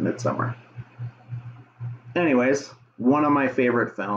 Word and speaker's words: Midsommar: It's spelled Midsommar, but, you know, I think you just pronounce it Midsommar.